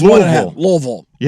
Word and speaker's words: Louisville: If you get Louis on them, is it one syllable or two or one and a half? It's not two syllables. No, I think it's one and a half. Louisville. Yeah, Louisville.